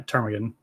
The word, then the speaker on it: Ptarmigan: Yeah, Ptarmigan. So he asks us or tells us we should go check it out, and we get the quest to obtain the power of Mega Evolution from the Ptarmigan Mansion.